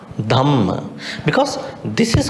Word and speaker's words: Dhamma: Dhamma. Dhamma. Because this is called aspirate. In English we call it aspirate. So you have to pronounce with the H. Dhamma.